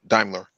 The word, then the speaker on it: Daimler: excuse me, Toyota, Volkswagen, Daimler, and Google. Okay. It's actually pronounced Daimler. Oh, Daimler. Okay, Daimler.